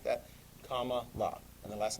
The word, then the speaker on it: Kamala: Think like the punctuation mark. Not exclamation point or period, comma, la.